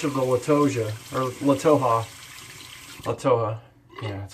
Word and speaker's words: Toja: Toja. Yeah, that's how you pronounce that.